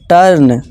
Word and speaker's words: turn: जब किसी वर्ड में यू के बाद आर आए तो यू को आ से पढ़ें। यू के बाद क्या आ रहा है, आर आ रहा है सब में, जी हाँ, तो आ की आवाज़ निकालनी है। एग्जाम्पल देखिए, TURN, टर्न, curd, heart, nurse, बन।